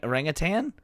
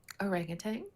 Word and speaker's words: orangutan: Orangutang is pronounced with the emphasis on the second syllable.